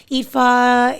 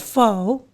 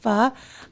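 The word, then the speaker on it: phở: butchering it, but like a lot of people call it pho, which, I understand why, it just phonetically, that just sounds like what it is, but it's pronounced pho. And again, might not be right either.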